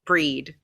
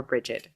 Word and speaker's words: Brigid: traditions, Celtic traditions, and it was beaten into me that you pronounced it Breed. You didn't pronounce it Brigid, it was pronounced Breed. So you'll hear it both ways, Breed or Brigid.